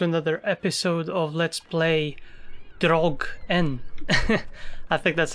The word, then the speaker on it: Draugen: correcting my pronunciation early it's kind of like Dragon but so there's an interval or space or a pause it is me slow